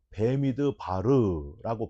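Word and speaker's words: במדבר: 여러분, 민수기는 원래 히브리어로 베미드 바르라고 발음을 합니다.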